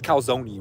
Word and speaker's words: calzone: It's definitely pronounced calzone. That E is not pronounced. I got some beef with people who are pronouncing that E.